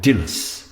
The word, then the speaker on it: Dileas: off we go the the story is called the dillis and that's how it's pronounced in gaelic i believe dillis the story name